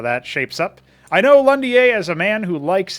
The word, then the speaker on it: Londier: We have Londier. Now, this guy always made me think of London with his name, but actually, his name is pronounced in a French way.